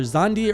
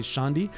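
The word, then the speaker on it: Xande: I think his name is, it's either Zandi or Shandi. I think you pronounce the X sh, so I'm going to say Shandi, who was like the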